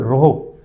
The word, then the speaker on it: rho: हैं इस सिंबल से जिसको बोलते हैं रोहो, RHO, ये इसका प्रोनाउंसिएशन है रोहो, और हमारा रहेगा L अपॉन में A।